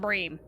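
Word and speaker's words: bream: but my point is i have always heard that fish pronounced brim not breem so honestly i don't care if it's correct or not that's just what i know you're giving money to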